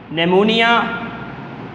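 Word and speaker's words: pneumonia: discuss की है producer ने मोनिया निमोनिया इसमें पीस साइलेंट होगा नमोनिया थर्ड 168 आ गले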